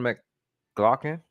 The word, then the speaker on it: McLaughlin: The Spurs receive De'Aaron Fox, Jordan McLaughlin, and that's how you say it.